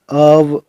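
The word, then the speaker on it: of: ओ एफ का उच्चारण अव होता है।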